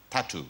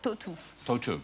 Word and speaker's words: Tautou: pronouncing your name correctly it is Toto not tattoo no to toou because I have always been saying or tattoo yeah everybody's saying that